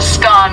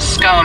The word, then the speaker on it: scone: the pronunciation of scone both scone rhyming with gone and scone rhyming with bone are accepted pronunciations though Regional variations exist what can you tell